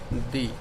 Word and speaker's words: the: Sound आती है तो उस टाइम पर आप इस वर्ड को प्रोनाउंस करेंगे दी। समझ में आया कि जो भी वर्ड आपको देखना है जिसके आगे आपको ये वर्ड लिखना है THE, इसको द बोलेंगे या दी, तो आपको देखना है